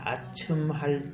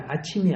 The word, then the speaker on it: 아첨: 나는 결코 사람의 낯을 보지 아니하며 사람에게 영광을 돌리지 아니하리니 이는 아첨할 줄을 알지 못함이라. 만일 그리하면 나를 지으신 이가 속히 나를 데려가시리로다. 아멘. 오늘 제목은 아첨. 오늘 제목이 뭐라고요? 발음 잘해야 돼. 아침이 아니에요.